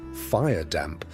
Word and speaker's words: firedamp: Explosions of firedamp, pronounced firedamp, methane gas igniting from a candle or a spark, killed dozens, sometimes hundreds, at a time.